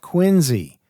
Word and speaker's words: QuinZEE: written called growing up quiny quu i n z e a play on the pronunciation of Our Fair City and uh he was